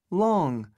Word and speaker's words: long: Âm on nha. Long. Long. Long. À, các bạn phát âm làm sao có âm ngờ ha. Long. Đấy, long. Mũi long.